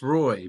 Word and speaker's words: Roei: coming on it is row right I just wanted to confirm you know it's actually pronounced Roy but I get everything